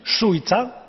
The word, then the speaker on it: Šuica: Is that the correct pronunciation? Šuica? Yes, you are right.